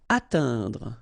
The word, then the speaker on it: atteindre: Atteindre. So remember when you combine this E-I-N together, you get the sound un. Atteindre, atteindre.